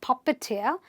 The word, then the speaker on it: puppeteer: That man is a puppeteer. Not a puppeteer. He's a puppeteer.